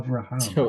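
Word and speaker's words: אַבְרָהָם: No, it's Avet, Avram, So Avraham. we've said his name wrong forever.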